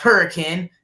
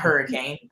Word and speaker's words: Hurricane: It's pronounced Hurricane, not Hurricane.